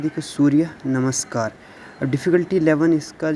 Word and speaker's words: सूर्य नमस्कार: तो इसकी प्रोनाउंसिएशन भी दे रखी है, देखो सूर्य नमस्कार।